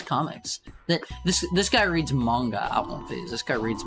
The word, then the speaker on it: manga: Wait, what is what is pronounced mango? Yeah, let's It's not pronounced mango. It's manga.